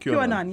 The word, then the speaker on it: QAnon: So that's how it's pronounced? QAnon, yes.